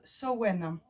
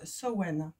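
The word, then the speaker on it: Samhain: allons fêter en fait alors ça se prononce ça se prononce c'est le sabbat de sewen donc ça s'écrit samhd1 n mais ça ce provenance semaine donc voilà donc c'est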